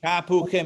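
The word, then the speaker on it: תפוחים: It's ta, then hu, and then chim. Tapuchim. Tapuchim means apples, in case you're wondering.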